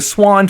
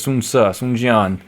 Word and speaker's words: Sun: you've got characters saying the sun family right the swan family Swan Su swanu swanu